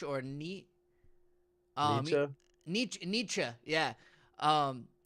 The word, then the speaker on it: Nietzsche: I think that's how you pronounce his name, niche or ni. Nietzsche? Nietzsche.